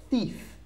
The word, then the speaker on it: thief: tricky word to pronounce tricky word to pronounce because we have a th thief thief okay I have